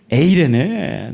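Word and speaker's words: εἰρήνη: 에라 이게 아니에요. 예. 에이레네. 네. 명확하셔야 됩니다.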